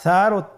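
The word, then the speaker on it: ث: মাখরাজ হলো উচ্চারণ স্থান জিহ্বার আগা সামনের উপরের দুই দাঁতের আগার সঙ্গে লাগিয়ে উচ্চারিত হয়।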